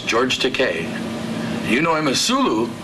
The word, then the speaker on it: Takei: George Takei. Rhymes with okay.